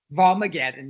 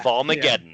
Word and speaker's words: Volmageddon: How would you pronounce that properly, Seth? Volmageddon, yeah. Volmageddon.